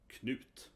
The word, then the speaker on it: Knut: Sometimes you see with a D in Danish, in Swedish it's T, so it's pronounced Knut, right?